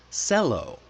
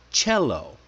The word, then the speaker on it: cello: Now, if you read it by the rules, you might say cello, but thanks to Italian influence, it's pronounced cello. That's like the ch sound, like chocolate.